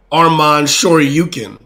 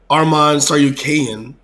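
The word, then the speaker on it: Arman Tsarukyan: one strong shot because i was pronouncing it armand sure you can but i was corrected armand saw you kayan okay close enough he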